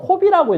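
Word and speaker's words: COBE: 어, C 저걸 코비라고 읽어. 코비라고. 알겠니?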